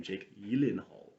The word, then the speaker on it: Gyllenhaal: he said that interviews that's the actual pronunciation of his name jake elenhalt just no one pronounces it correctly and i don't think